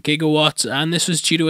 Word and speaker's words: gigawatt: according to I'm DB jigawatts was mispronounced from gigawatt and this was due